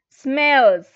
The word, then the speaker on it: smells: Smells. Uh-huh. Smells. smells with z, smells.